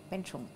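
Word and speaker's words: bánh chưng: Beng Chung, ok. Ah, tu prononces bien.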